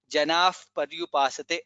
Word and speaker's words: जनाः पर्युपासते: Okay, ye janaha visarga followed by pakara, so it should be janaf paryupasate. That's how it is pronounced.